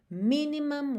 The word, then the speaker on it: minimum: O cuidado que você tem que ter é só para esse U não ficar muito U, não é mum, é mum, ok? Então, minimum waste. E essa sílaba que tem o M e o M é a última sílaba. E as sílabas tônicas são as primeiras nessas duas palavras.